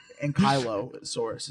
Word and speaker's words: ankylosaurus: ankylosaurus right now. You guys know what that is, right? Yes. Yes. Okay, cool. And Kylosaurus is actually how you pronounce it.